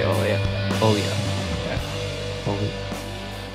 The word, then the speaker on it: Olya: Olya. Olya. Yes. Olya. Olya. It's almost like you don't pronounce the L. Olya. Yeah, it's like a soft, and if you write